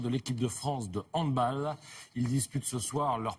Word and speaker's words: handball: Alors ce mondial de handball, on dit bien handball et non pas handball, on prononce à l'allemande.